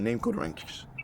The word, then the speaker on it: Namqodranx: Now I'm going to move forward with the name code ranks or name code rank, right? It's spelled N A M like a name. What's your name? Code Q O D Ranks or Ranks.